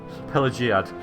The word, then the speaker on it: Pelagiad: and it's named after him so it's pelia pelagiad I'm going to say it wrong still I